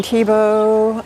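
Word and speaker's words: Thiebaud: over the place wayne tebow who's still alive is he a football player no actually his name is spelled t-h-i-e-b-a-u-d and he's primarily up in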